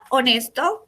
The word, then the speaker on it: honest: La palabra honesto u honesta en inglés se dice honest. Esta H no suena. Es por eso que debo utilizar an, because this H is silent or voiceless.